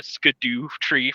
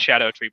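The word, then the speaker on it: Scadutree: s calling them uh sco tree fragments because it's spelled like that but it's Old English it it they're it's pronounced Shadow tree blessing no I like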